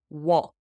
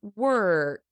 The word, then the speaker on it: walk: easy word for beginners but listen to the pronunciation walk walk it's an a sound wall w walk walk sometimes people get it a little confused with work work walk home work work wall work okay I hope that